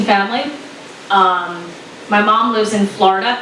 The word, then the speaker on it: Florida: My mom lives in Florida. Yes, 2 syllables, Florida, Florida.